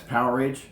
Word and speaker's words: Powerage: And that's Powerage, or some people pronounce it Power Age. I'm not exactly sure. I think it's one word. I don't think it's two words.